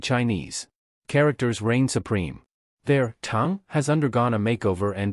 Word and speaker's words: 長: The Chinese character chang 长 has a pronunciation that's quite similar to the word charm.